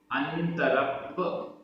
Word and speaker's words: अंतरप्प: अंतरप्प आधा पा पूरा पा, अंतरप्प जहन्नो, जहन्नो आधणा पुराणा, अंतरप्प जहन्नो।